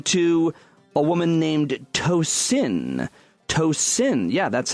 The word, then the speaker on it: Tosin: She said, if you ever say my name on the show, it's pronounced Tosin. It's Yoruba, Nigerian. I'm not assuming you'll butcher it, but somehow people will repeat it back as Toastin, really, to my 37-year-old face.